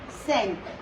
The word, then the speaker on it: cinq: And this is 5, which is known as cinq.